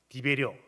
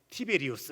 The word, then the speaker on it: 티베리우스: 무너지고 폐허가 되었을 때에 로마 황제 디베료 어 일반 역사에는 티베리우스 그렇게 표현하잖아요 티베리나 티베리우스 똑같은 인물이에요 발음 차일 뿐이에요 이 황제가이 빌라델피아 지역을